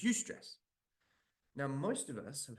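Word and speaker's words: eustress: with an E and A U and it's pronounced U it's UST stress now most of us have heard of that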